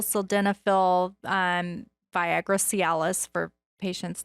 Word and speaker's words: sildenafil: know there's uh sildenafil and tadallophils how you pronounce it yeah tadalaphyl sildenophil um viagra cialis for patients that you know